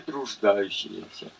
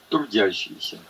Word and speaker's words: труждающиеся: Придите ко мне, все труждающиеся и обремененные, и я успокою вас. Сегодня произносят многие написанное здесь трудящиеся. Нет там этого слова трудящиеся, а есть труждающиеся и обремененные.